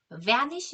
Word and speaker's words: vanish: A, B 할 때 B는 입술이 딱 붙었다 떨어지고요. 그 다음에 vanish 할 때 V는 with E로 아랫 입술을 쓸면서 안쪽으로 들어갑니다.